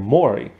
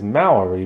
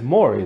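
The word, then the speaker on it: Mowry: now t and tamara they pronounce their last name mori but a lot of people think it's maori because it's m-o-w-e-r-i-y and stuff but it's maury like the talk show host dude and so like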